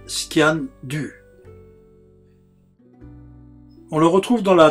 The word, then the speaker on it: sgian dubh: alpes-de-haute-provence est ancien d'ubs en langue gaélique on prononce scan du on le retrouve dans